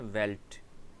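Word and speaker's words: veld: आप इसको डी को देख के परेशान नहीं हो जाएगा, ये वेल्ड नहीं है, इसका प्रोनाउंसिएशन है वेल्ट।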